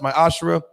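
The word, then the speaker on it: מעשר: and Malachi 3 8-10 means 10th in Hebrew is pronounced my Ashraf 10 of every penny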